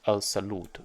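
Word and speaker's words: الصلاة: This is the correct pronunciation is al-salut, because the dagger alif never existed in the oldest Quran.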